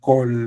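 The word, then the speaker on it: כָּל: But you see kamat, but you pronounce O. For example, so if we say this is an A, kamat is supposed to be an A, but now the rules of grammar say that we must pronounce this as an O.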